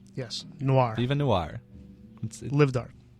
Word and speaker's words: noir: o i r yes Noir even Noir livedar it looks like newer newer well it's like film Noir okay you know